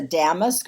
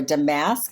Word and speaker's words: damask: see that number 17 is a damask or a damask. It's pronounced two different ways.